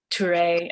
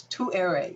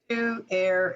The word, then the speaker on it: Tuere: but um that's cool it's too airy so it's just think of two air and ray okay too airy um so we have